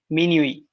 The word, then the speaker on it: minuit: Minuit. All right. So this is just to tell you the pronunciation minuit.